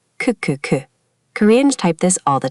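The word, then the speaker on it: ㅋㅋㅋ: The character k sounds like k and when you repeat it, it mimics the sound of laughing. Ku ku ku.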